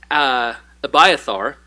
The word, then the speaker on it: Abiathar: But one priest, Abiathar, I believe is how you say his name, was able to escape, goes and finds David, informs him of what happened.